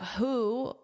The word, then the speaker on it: WHO: So here, WHO is an acronym as well. The World Health Organization. Acronyms can be spoken as a word. Like in this one, instead of saying wh it's who. But if it's not obvious